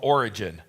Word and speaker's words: Origen: The next one is called Origen. Origen is spelled E-N at the end.